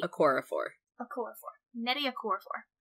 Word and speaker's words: Nnedi: author's name is pronounced nettie nutty a chorophore a chord form netting a chord for like eddie with an n on the front we're keeping that